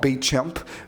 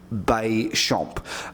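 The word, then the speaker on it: Béchamp: called Anton B shmp uh not B champ Bay shmp uh ba like b y SHP CH but SHP you say it like an sh then Otto warberg now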